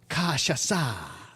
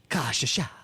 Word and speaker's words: cachaça: made with, we'll soon be done with these pronunciations, made with cachaça, which is a distilled spirit made from sugarcane juice, and then you add some lime and sugar. Okay. So, cachaça.